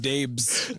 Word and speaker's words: Dabes: And then we just used Dabes. Dabes. Pronounced it Dabes instead.